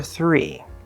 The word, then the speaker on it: three: So, make sure that when you're doing the r, that you're not tapping. It's not thr. Okay? We want a nice good r, an English r consonant sound. So, th, right? th r, thr, thr. You could also do a